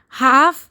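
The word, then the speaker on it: half: लिए word use होगा हाफ ब्रद और हाफ sister हाफ brother हाफ sister H ए एल एफ हाफ brother H ए एल एफ हाफ sister हाफ brother L silent है हाफ में हाफ brother हाफ sister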